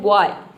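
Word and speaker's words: boy: बॉय कोई नहीं बोलता है सब बोलता है बॉय यहां पे देखिए बी का ब हो जाएगा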